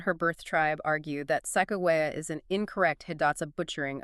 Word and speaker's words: Sacagawea: The federal and academic standard is usually sakoa with a hard G.